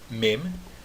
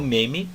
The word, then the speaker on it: Mem: Mem. Não Meme e também não Mem. Mas Mem. Mem. Pronuncia aquele M. Fecha os lábios depois de pronunciar o Mem. Fecha os lábios no final da pronúncia dessa letra.